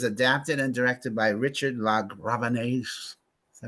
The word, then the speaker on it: LaGravenese: Okay, so it's based on this novel, this Irish novel, and it was adapted and directed by Richard LaGravenese.